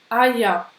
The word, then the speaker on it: Eier: On n'a pas trop parlé encore de la prononciation du ER à la fin d'un mot, mais ça se prononce presque comme un A. Die Eier.